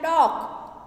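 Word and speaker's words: talk: तीसरा है टॉक, टॉक में एल का उच्चारण नहीं किया गया, इसमें एल साइलेंट है।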